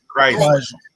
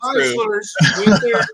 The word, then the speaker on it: Chrysler: Who are Chrysler. Yeah. Okay. Yes, it's kind of like a Z in there. But if you just twist it, you've got Chryslers, which they all run Chevys.